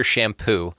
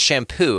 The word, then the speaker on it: Champoux: His last name is spelled Champous. Okay, and yeah, thanks. Right, and he's a sweetheart of a guy. No, he's amazing, like a sweetheart of a guy, but it's pronounced shampoo, and I'm just like,